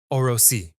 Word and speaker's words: Orosi: I took out my notepad and wrote the word down, breaking it into 2 syllables. Orosi. Oro meant gold in Spanish, and si meant either yes or if.